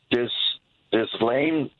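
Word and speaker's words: Ghislaine: I don't know how to pronounce her name. This Lane Maxwell.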